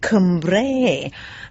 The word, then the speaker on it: Cumbrae: That's on a little island in the mouth of the Clyde called Cumbrae, for those of you don't know it. Or should I say, "Cumbrae" as the locals would have us pronounce it, anyway.